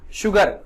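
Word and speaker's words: sugar: कह रहा है कुछ ऐसे शब्द होते हैं जिनमें एस के ठीक आगे, मतलब एस के ठीक बाद एच नहीं लगा होता है, फिर भी उसका जो उच्चारण है स नहीं होता है। क्या होता है, स नहीं होता है, क्या होता है, श होता है, क्या होता है, श होता है।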